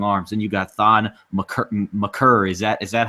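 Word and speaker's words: Makar: out and said, he said it's McCurr. He just didn't want to correct anybody. I'll stick with Maker just for the simple fact it's easier, and I don't have to remember to change the pronunciation. If his mama calls him McCurr, I'm going to call him McCurr.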